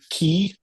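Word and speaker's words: quay: But um key as in qu u a y which is like a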